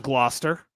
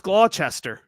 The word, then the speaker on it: Gloucester: look at Gloucester and it's not Gloucester it's glester good God or glester or something like that I don't know GL